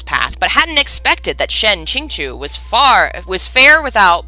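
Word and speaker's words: Shen Qingqiu: and apprenticed under the shuya sword shen king shen ching chu i think is how it's said yes it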